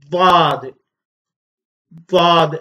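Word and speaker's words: ضاد: இதுவும் உச்சரிப்பதற்கு கடினமான ஒரு எழுத்து. நாக்கின் ஒரு ஓரப்பகுதியை கடவாய்ப்பற்களின் இடையிலே வைத்து உச்சரிக்க வேண்டும். வாத் வாத் என்று உச்சரிக்க வேண்டும். சரியாக நாக்கினுடைய ஒரு ஓர பகுதி கடவாய்ப்பற்களுக்கு இடையிலே வைத்து உச்சரிக்கப்பட வேண்டிய ஒரு எழுத்தாக இருக்கிறது. தாத் என்கின்ற சவுண்ட், அதாவது ZHA வா என்கின்ற அந்த உச்சரிப்பை ஒத்ததாக இதனுடைய உச்சரிப்பு இருக்கும்.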